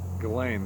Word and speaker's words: Ghislaine: with old jizzy oh gillane maxwell gallane that's how you say her name correct yeah she's she's still